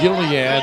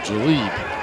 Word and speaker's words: Jaleel: Yes, his name is not Gilead, even though in church I was always told that there is a balm in Gilead, but he pronounces his name Jaleel.